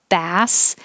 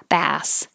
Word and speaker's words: bass: the first one 22 bass is a fish so the vowel is ah bass but bass like bass